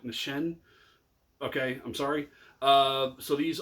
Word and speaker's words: Nissin: I heard a pronunciation the other day that I was saying too much like Nissin, which apparently is incorrect. It's more like Nissin.